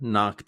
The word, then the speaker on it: knock: The K is silent. Don't say it.